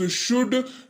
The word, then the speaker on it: should: अगला शब्द है हमारे पास शुड, SHOULD, एल रहेगा साइलेंट।